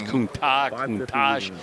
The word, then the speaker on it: Countach: It was Countach, kind of like Chipotle.